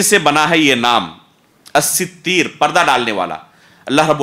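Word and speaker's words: الستير: مشہور جو نطق ہے، علماء اس لفظ کو جو پڑھتے ہیں وہ ہے الستیر، الستیر، یہ ہے صحیح نطق۔ یا بعض علماء نے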